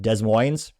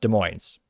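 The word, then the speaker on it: Des Moines: If you're not from Iowa, you'll probably pronounce it Desmos. It's pronounced De Moines, which I, you know, I knew because I was in Iowa for quite some time.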